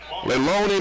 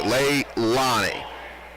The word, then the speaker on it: Leilani: Foul's going to go against number 11, Leloni Moncrief. Okay, the third time I've said it wrong. I'm so sorry to the Moncrief family. Leilani.